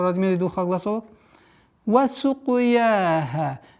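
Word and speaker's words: وَسُقْيَاهَا: Син мягкая, каф. Применяем правило калькаля. Сука, сука, сука. Сукуяха. Мягкое произношение я и ха в размере двух огласовок.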